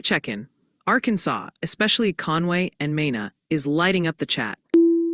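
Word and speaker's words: Mena: And heads up from the pronunciation squad. They're working overtime today. Multiple viewers are suggesting it's Mina, Arkansas, New Madrid, Missouri, and Oan County.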